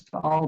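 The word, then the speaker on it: Taal: as you can see it's just spelled t-a-a-l but every time you see that here it's the two syllables so this tall volcano is actually the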